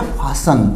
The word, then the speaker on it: fasten: इसी तरह FASTEN, इसमें भी TEN है तो अपना T यहाँ भी साइलेंट रहेगा, ये हो जाएगा फासन।